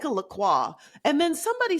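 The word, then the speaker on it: LaCroix: Laqua. It's really Lacroy.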